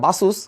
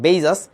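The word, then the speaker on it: Baseus: এটাকে অনেকে উচ্চারণ করে বাসুস। বাট একচুয়ালি উচ্চারণটা হচ্ছে বেইজাস।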